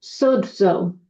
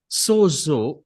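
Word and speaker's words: σώζω: it's a Greek word, and which actually is pronounced sozo. सोजो, जिसको हम इस प्रकार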